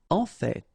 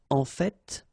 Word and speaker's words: en fait: En fait. So whether you pronounce the final T or not, you can hear both. En fait.